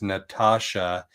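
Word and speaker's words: Natasja: So, her full name is Natasha. N A T A S J A. So, she uses the T A S from Tasha, but it's pronounced TSH. But she also said people call her Tass all the time and she doesn't get offended.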